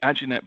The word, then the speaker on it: Aginet: Is that how you pronounce it? Is that right, Blommers? Aginet. Is that how we say that one? Aginet, yeah.